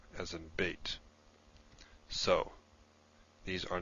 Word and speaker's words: Beit: The Beit without the Dagesh is pronounced V, V, as in V. So you could say Veit, I suppose, while this is B, as in Beit.